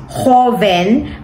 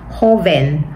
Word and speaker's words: Joven: ang name niya ay Joven pero ang pronunciation niyan dito sa Spanish is hoven means young mga ano teenagers hoven hoven Okay young and